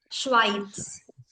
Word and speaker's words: Schweiz: German වල z එක කියනකොට ඉස්සරහින් t sound එකක් ගහනවා. It's Schweiz. Schweiz.